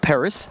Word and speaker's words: Paris: make it better like paris i will call it well i would call it paris as opposed to pari right so you're welcome